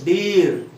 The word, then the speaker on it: deer: That means we are not supposed to pronounce the letter R.